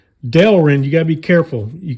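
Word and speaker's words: Delrin: anybody's intelligence but FYI be careful with this delin delin delin not Derlin or darling I guess you could say it if you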